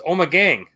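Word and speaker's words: Ommegang: ipa from uh when we pronounce this right omagang omegane omegon i'm not sure what that means but love the camera what is it like oh my god no it's omagang i know that but like it's a play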